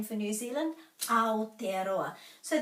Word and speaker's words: Aotearoa: We could start with our name for New Zealand, Aotearoa. So the key to the pronunciation is always the vowels.